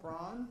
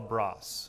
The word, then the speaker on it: Bras: Michel Braun? Michel Bras. So his last name is spelled like Bras, but he's fascinating, very, very passionate, colorful chef.